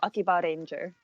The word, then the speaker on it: Akibaranger: Like Akihabara. But it's Akiba, like the shortened version of Akihabara is like Akiba and then Ranger, so Akibaranger.